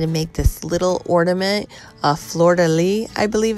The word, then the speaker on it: fleur-de-lis: to go ahead and make this little ornament fleur-de-lis i believe it's pronounced we're using an iod mold and we're